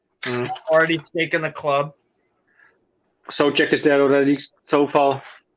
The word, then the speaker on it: Souček: People who speak the English language always say Souček or something. I don't know how to say it, but it's Souček. Souček.